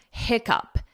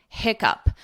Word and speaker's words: hiccup: to the pronunciation up, hiccup, hiccup. But this double C is still confusing because it's pronounced as a k, hiccup, hiccup.